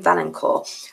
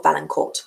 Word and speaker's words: Valencourt: Valencourt. This is one, or Valencourt, depending on if we're pronouncing it in a French way or an English way.